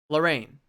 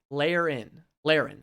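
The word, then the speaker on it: Laerryn: So, that's big news for Lorraine.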